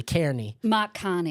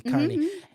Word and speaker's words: Carney: But Canada and France, so Macron, and I want to pronounce his name probably Kane. Mhan. Carney.